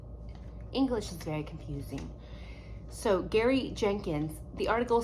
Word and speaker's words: Gary: I've known several people and they pronounce it differently, but it is G-A-R-Y, Jenkins. I'm gonna say Gary, although I have been yelled at by a patient because he said it was Jerry, and English is very confusing.